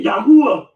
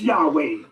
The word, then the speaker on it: Yahweh: be habberry bush to explain why they say Yahwh or Yakqua or Yahawah because they won't find it in any goddamn Bible encyclopedia or dictionary. I'm giving you what the modern consensus is. It's Yahweh. Shout out to Yahweh been Yahweh.